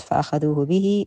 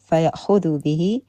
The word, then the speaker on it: فيأخذوا به: It's not فأخذوه به, it's فيأخذوا به, which means so they take with it.